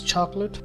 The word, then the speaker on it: chocolate: pronunciation of this word there are just two syllables with his chocolate which